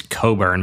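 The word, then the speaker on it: Cockburn: Her last name is Coburn, but it's spelled C O C K Burn.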